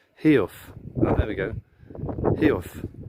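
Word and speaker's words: Heugh: Hugh, or Hug, is a Northumbrian word for a steep crag, and is pronounced Heof.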